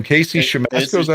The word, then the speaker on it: Siemaszko: Casey Siemaszko. I think was his name. Casey Siemaszko. Is that how you pronounce it?